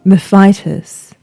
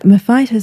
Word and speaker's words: Mefitis: it very often, but Mefitis sounds too much like a horrible medical affliction to me. So the pronunciation you've heard me using is according to the Latin, which I think is nicer.